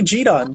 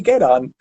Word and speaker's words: gedan: It wouldn't be Jidan, would it? It would be Gedan.